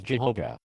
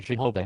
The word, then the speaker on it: Jehovah: Today many Hebrew scholars prefer Yahweh as the true pronunciation. However, consistency favors Jehovah. In what way? The pronunciation Jehovah has been accepted in English for centuries.